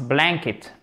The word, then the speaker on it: blanket: My dog's blanket. Ok? À court, il court. Accent tonique sur la première syllabe. C'est pas blanket, mais blanket.